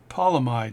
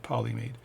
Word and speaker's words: polyamide: The Bergeron 7010 polyamide, not polymade.